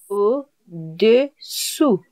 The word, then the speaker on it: au-dessous: Really be careful with the pronunciation. So for below, it is au-dessous. You get it? Au-dessous. Yes. Très bien. And for above, it is au-dessus. It sounds pretty similar. Yes, it sounds a bit similar.